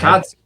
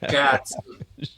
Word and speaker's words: cazzo: Cazzo. Cazzo. Right. Cazzo was a great tip. I appreciate that. Cazzo. Okay, sì, cazzo. Yeah. E che cazzo. With what the fuck? E che cazzo.